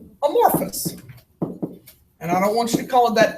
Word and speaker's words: amorphous: is what sounded English what's the pH sound it's an F sound so a more fuss alright amorphous this is